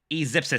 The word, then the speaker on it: E-Zipsis: E-Zipsis says, oh, it's pronounced E-Zip-Sis.